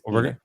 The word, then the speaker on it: Enoch: Jim Jimmy said it's pronounced Enoch. Well, potentially, but Thrawn himself said this is Enoch, captain of my god. That is directly what he says. So, it is Enoch.